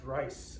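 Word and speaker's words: Ries: uh ferdinand and rhys are actually pronounced rice uh in german uh he was born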